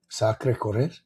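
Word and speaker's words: Sacré-Cœur: Sakre Corre Sakre. That's how you would pronounce it if you were in France.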